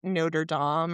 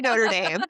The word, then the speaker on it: Notre Dame: But, then like she didn't pronounce Notre Dame, the university, correctly. She called it like Notre Dame or something. A combination of the cathedral and the It's predominantly Irish university. They definitely say Notre Dame.